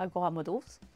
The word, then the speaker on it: Agora Models: Alors, moi je suis chargée des produits pour le marché français à Agora Models. Models, c'est comme ça qu'on prononce. Yeah. Agora Models. Agora Models. Yeah. Pour vous les Français, ce sera Agora Model.